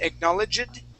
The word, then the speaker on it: acknowledged: that's right that this the D on this word when you have a j it's halfway between a d and a t sound okay that sounded really